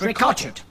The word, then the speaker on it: Ricochet: and Nigel rakaat chipped that spelt ricochet but pronounced Rico cheat and we are your